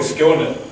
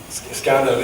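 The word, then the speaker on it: Skåne: about in this probably SC scanner English people think it's pronounced scanner but it's SC it's a province in the south of Sweden we have uh I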